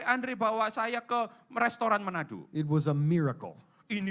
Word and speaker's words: Manado: Tolong perbaiki pelafalan saya. He kalau is salah. from an island called Manado. Manado. Ya, Manado.